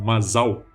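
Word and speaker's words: מזל: Em hebraico, a palavra sorte, que se pronuncia como Mazal, significa também constelação astrológica.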